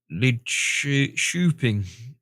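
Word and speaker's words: Lidköping: The K in lead coping is pronounced SH. Right. We were talking about this the other week with different letters and things. So it's lid choping. The O sounds like a U in burn.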